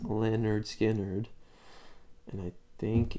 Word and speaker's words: Lynyrd Skynyrd: wind oh that's a lemon Skynyrd simple man it's off the album that's called it's pronounced Lynyrd Skynyrd and I think it's